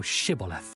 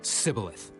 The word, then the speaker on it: Shibboleth: Then said they unto him, Say now Shibboleth. And he said, Sibboleth. For he could not frame to pronounce it right.